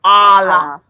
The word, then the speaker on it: Allah: And then when you say Uh, Allah, the ALLA, you're saying all off. So you just say Allah. Allah. Allah.